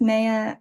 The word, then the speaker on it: Meia: So my name's Meia. I say it rhymes with Princess Leia because it's hard to pronounce, Meia Leia.